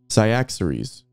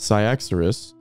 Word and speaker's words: Cyaxares: Yeah, it's spelled C-Y-A-X-A-R-E-S. So I'm just saying Cyaxares or Cyaxares, whatever.